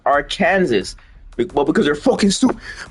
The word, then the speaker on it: Arkansas: It's supposed to be pronounced Arkansas.